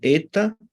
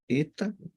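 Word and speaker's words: ἦτα: O eta, eta, pronunciado com E de elefante.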